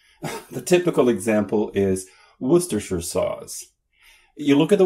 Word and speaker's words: Worcestershire: Put Worcester and Shire together, you get Worcestershire. Worcestershire sauce.